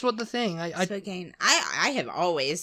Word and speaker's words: Spokane: one is Spokan yeah it's Spokan Spokane no it's Spokan Spokan yeah isn't it right I'm sure that was what that was what the thing I I Spokane I I have always